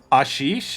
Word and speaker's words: Ashish: of the sheesh meme my name is pronounced like that but with an ah at the beginning no i actually did not i'm sorry about that so it's ashish is is that pronounced